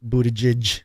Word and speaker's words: Buttigieg: Okay, how do you say it? Buttigieg? Buttigieg. Is that right? Mm-hmm. Buttigieg. There you go.